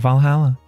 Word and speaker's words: VA-11 Hall-A: Name sounds silly and a bit hard to pronounce. Good thing it's actually called Valhalla. The funny numbers and letters are just a code.